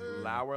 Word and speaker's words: Lauer: Lauer like flour.